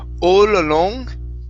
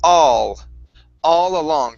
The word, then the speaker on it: all along: So here, instead of saying all along with an ol sound, it's all along. So it's an ah sound. Open up your mouth and pronounce that ah.